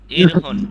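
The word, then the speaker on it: 일흔: ইলহুন ইলহুন ইরহুন। ইরহুন এই র উচ্চারণ হবে ইরহুন।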